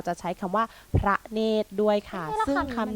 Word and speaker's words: เนตร: ไหร่ ท้าย ใช่ อ่ะ คำ นี้ อ่าน ว่า เนตร อ่าน พร้อม กัน นะ คะ เนตร ขา ซึ่ง คำ นี้ นะ คะ อย่าง ที่